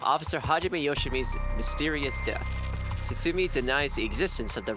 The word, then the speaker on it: Tsutsumi: It's like Tatsumi. Tsutsumi. Wait, Tsutsumi. Tsutsumi? What? Yep. Tatsumi. Tsutsumi. Yeah, that's it.